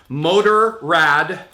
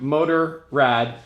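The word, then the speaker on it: Motorrad: here is the BMW motor rad Dakar bag BMW motor Rad or motor Aid I don't know whatever it's spelled motor rad and well we're in America so that's how I pronounce it this is a tool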